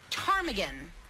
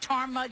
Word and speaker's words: ptarmigan: There's a silent P that always gets you.